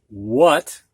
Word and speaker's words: what: whale when white whiz what there's a a that sounds like an O what whack with wile